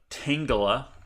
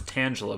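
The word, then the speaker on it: Tangela: used to pronounce it tangula but that's because I was an idiot because Tanga I think it's supposed to be like Tangled right a bunch of vines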